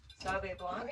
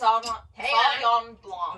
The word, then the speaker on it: Sauvignon Blanc: Sauve Blanc. Wait, Is that how you you say say it? it? Sauvignon Blanc.